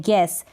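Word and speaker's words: guess: जैसे ये है गैस, जी को तो हम पढ़ रहे हैं लेकिन यू का उच्चारण नहीं हो रहा है।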